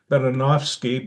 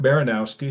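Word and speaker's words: Baranowski: did well I mean in in my grandmother who was polish said baronov baranovski but it's actually baronowski so you came close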